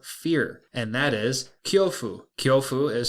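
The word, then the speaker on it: 恐怖: Japanese word for fear and that is kofu kyofu is spelled k yo U Fu F and that's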